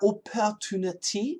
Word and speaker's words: opportunity: pronunciation opportunity opportunity but most Americans are going to take the second T and flap it opportunity opportunity tunity d